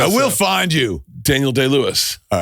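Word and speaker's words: Day-Lewis: Daniel D. Lewis. All right. All right. So, you pronounce that right.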